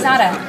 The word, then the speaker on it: Zada: Zada.